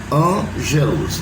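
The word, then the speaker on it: ἄγγελος: tradutores traduziram por ângelos, que é uma palavra escrita com 2 L, né? Ângelos, não tem acento no A, é ângelos, né?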